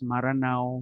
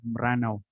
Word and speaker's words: Meranaw: Uh, I put here Meranaw because we want to keep the indigenous way of pronouncing the name of that nation. There is no such people as Maranao, Meranaw. We only have Meranaw, Meranaw cultural heritage.